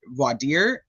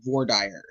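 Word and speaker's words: voir dire: Um so I I've heard it both ways because I was I was essentially taught both ways by people. It's definitely spelled like vory. V dire. Yeah, for sure. But it's also um I don't know why I want to make it French. But it but because it's not English.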